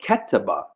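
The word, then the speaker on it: كتب: And If you broke that down, the root word, you three letters would be KTB, calf, ta, and ba, and that would be pronounced ketaba.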